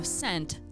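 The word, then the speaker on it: scent: So sent, S-C-E-N-T. I think the C is silent.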